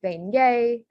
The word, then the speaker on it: beignet: So examples are beignet, which again is ET as the A sound, and then rognon, which has that GN and Y sound, nia sound.